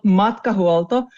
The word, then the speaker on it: Matkahuolto: the company name right how do you actually pronounce it it's called MTO and if you think that our name molto